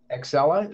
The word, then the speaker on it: Axcella: It's Axcella. Is that right? Yes, that's correct. Like the train, sort of. That's how you pronounce it.